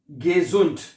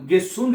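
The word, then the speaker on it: gesund: एस को हम जेड की आवाज में प्रोनाउंस गिसुंड नहीं कहना। एस को हम जेड की आवाज में प्रोनाउंस करते हैं। गिजुंड गिसुंड नहीं कहना हैं। एस को जेड की आवाज में प्रोनाउंस किया जाता है।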